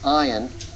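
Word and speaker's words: ע: the Hebrew alphabet is Ion and it's one of those silent letters it's like all if it's silent we'll we'll tell you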